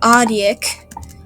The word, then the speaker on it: Audic: But yeah, so on the planet Audic, that is how you pronounce it, there are 3 races.